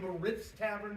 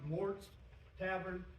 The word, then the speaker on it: Moritz Tavern: with us Mort's Tavern it looks like Moritz Tavern but it's pronounced Mort's Tavern um it's it's pretty